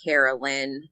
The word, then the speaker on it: Caralyn: A lot of people call me, so it's pretty much like how you look at it, Caralyn.